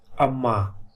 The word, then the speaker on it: अम्मा: अब यदि मैं यहाँ पे भी म लिख देता पूरा और यहाँ पे भी पूरा म लिखता, तब इसका उच्चारण होता अम्मा। लेकिन अभी हम पढ़ेंगे अम्मा, वो इसलिए कि इसे आधे रूप में म का प्रयोग हुआ है और पूरे रूप